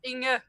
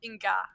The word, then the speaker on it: Inge: Yes, it's Inge, not Inga. Inge. First of all, soft G and an E in the end, not an A. Inge.